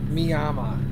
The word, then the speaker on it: Miami: is in Kansas but the pronunciation is miyama but it's spelled Miami is it Kansas I